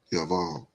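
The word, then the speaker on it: יָבָל: Yeah, you can see Yabal. Yaval. That's how he pronounced it.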